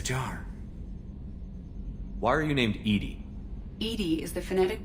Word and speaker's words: EDI: airlock is a jar why are you named Edie Ed is the phonetic pronunciation of Eed I that is an acronym